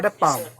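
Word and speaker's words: palm: WhatsApp चौक पैसे व पॉम पॉम की स्पेलिंग होते पीएम इसमें भी एडिशन होता है इसको पाल नहीं बोलेंगे पीएम बोलेंगे पास टॉप पॉर्न ऐसे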